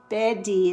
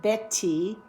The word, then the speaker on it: Betty: sweet describes milk Betty often we say bety instead of betti vibrate vibrate in the middle T doesn't vibrate so we just keep vibrating bety just a little aside